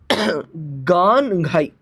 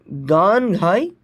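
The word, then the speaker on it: Gaan-Ngai: The first festival that we are talking about is Ganghai. Okay, Ganghai. You write it like this, but you pronounce it as Ganghai festival.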